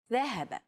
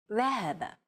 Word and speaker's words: ذهب: Classical Arabic will be written like this. In pronounced ذهب. Modern standard Arabic, however, would remove the vowels, so it would appear like this, and be pronounced ذهب.